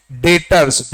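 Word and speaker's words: debtors: हम क्या बोलते हैं डेटर्स बी साइलेंट है इसमें स्पेलिंग है डी ई बी टी ओ आर एस डेटर्स right and these are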